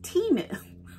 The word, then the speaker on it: Temu: a little bit about this company it is pronounced timu I'm saying temu but I asked him how